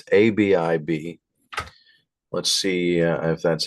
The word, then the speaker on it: Abib: and see if that's even the way to pronounce that. It's ABIB.